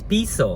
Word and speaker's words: piso: with 57 sauce or am I saying it right piso it's piso I think it's piso peso is is from Mexico Mexico uh and then